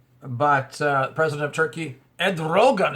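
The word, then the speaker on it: Erdoğan: uh president of Turkey Ed Rogan is how you say his name uh said not on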